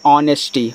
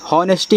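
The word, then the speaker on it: honesty: एच ओ एन ई एस टी, इसको पढ़ते हैं ऑनेस्टी, हॉनेस्टी मत पढ़ना, ऑनेस्टी यहाँ एच आपका साइलेंट होता है, ठीक है।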